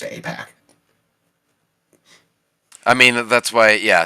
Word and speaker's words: AIPAC: APAC. Yeah, APAC. Yeah, it's spelled AIPAC, Yeah. but I'm pretty sure it's colloquially pronounced just APAC.